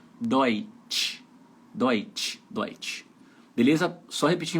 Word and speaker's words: Deutsch: Então tem que ser o T mais chiado. Deutsch.